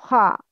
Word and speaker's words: خ: It's always a mufakham letter. Mufakham letter means has heavy sound. It's kha, kha, not kha.